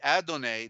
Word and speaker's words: Adonai: Yahweh and put in Adonai. Adonai was changed into Lord, right? But Adonai means sunrise. The A, dawn. Dawnay. The A, first A is silent. Adonai, the A is silent.